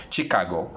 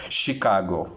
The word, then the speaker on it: Chicago: Let me mispronounce this. Chicago. Chicago is incorrect pronunciation. Again, the correct pronunciation for the city would be Chicago.